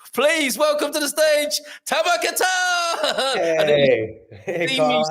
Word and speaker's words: Tamer Kattan: Please welcome to the stage, Tamar Katan.